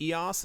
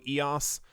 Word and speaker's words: EOS: information or something about EOS simply because for those who don't know EOS or e OS depending on how you want to pronounce it is also a type